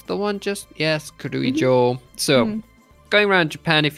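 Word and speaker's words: 城: Joe Joe yes so Castle in Japanese is pronounced Joe so when you're going around Japan a lot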